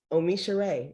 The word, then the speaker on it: OmiSoore: to help you practice it um but yeah omisha ray it means i receive an abundance of blessings